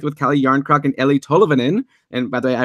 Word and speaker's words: Tolvanen: looked it up and made sure it's Eli Tolvanen. Something like that. It was like Tolvanen. It's like an extra syllable.